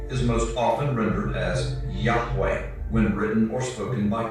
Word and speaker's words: Yahweh: The pronunciation Jehovah is an older, less accurate rendition of these letters. It originated with the early German translators of the Hebrew language and their sounds, thus the more Germanic sound of Jehovah.